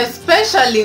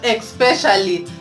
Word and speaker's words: especially: the next what so we say especially not expecially for example I can say